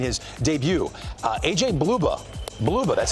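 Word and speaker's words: Blubaugh: Bluba, that's how you pronounce it.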